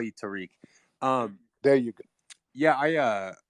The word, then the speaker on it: Tariq: he pronounced my name tariq so what's going on how do you pronounce is it tariq tariq it's terrific but the white version the white version is